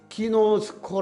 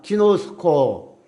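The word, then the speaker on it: γινώσκω: 를 한다는 거예요 그러나 헬라어로 않다는 말은 기노 스코 라고 이렇게 발음합니다 기노 스코 그러면 오이 달하는 또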